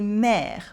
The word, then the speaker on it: mères: La fête des mères for Mother's Day. Repeat after me. La fête des mères. La fête des mères. And just like for any plural, the S at the end is silent.